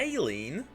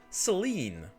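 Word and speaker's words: Céline: Saline? Nah, that that is not how I would pronounce that. That's Seline. No. Why would you pronounce it like that? I'm not a fan of that pronunciation. Princess Saline. I look forward to You also are mispronouncing it like that. Come on. Just call her Saline. I'm sure you two will get It's making me mad. That's Seline. It's the French uh Seline.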